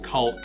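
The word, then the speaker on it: caulk: It's like, I mean, I think it's pronounced like Culk with a very silent L.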